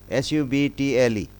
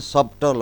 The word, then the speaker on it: subtle: word can you see s-u-b-t-l-e yeah subtle yeah yeah sort all means it is not subtle okay b is silent here so we read it subtle in fact far more